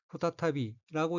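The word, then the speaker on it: 再び: 우선 빨간색 줄친 부분을 보면 첫째 줄 왼편의 어휘는 한자가 두 제자가 들어있고 일본어로는 후타타비라고 읽으며 후타타비는 두 번째라는 뜻의 명사 또는 재차, 다시라는 의미의 부사로 쓰입니다.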